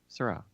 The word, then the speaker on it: Seurat: I don't even know how to say his name. Leonardo Rotini. Vincent Ratgo. Close. So for the rat part. Not Matei. Sewer rat. George Pierre Seurat. Oh, okay. Syrah. Yeah, I Oh, remember that okay.